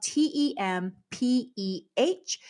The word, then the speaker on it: tempeh: So that is spelled Tempeh, but it's pronounced tempeh.